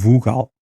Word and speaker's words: vogal: Nós dissermos vogal com cuidado, nós dizemos vogal e mesmo assim já estamos a reduzir o para U, não é?